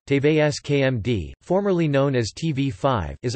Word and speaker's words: TV5Monde: TV5Monde, French pronunciation, TVSKMD, formerly known as TV5, is a French pay television network, broadcasting several channels of French language programming.